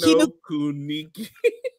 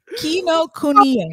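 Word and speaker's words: Kinokuniya: Y'all videotape Kino Kuniki. Kino Kuniki. How you say it? Kino Kuniki? Kuniya. Kino Kuniya.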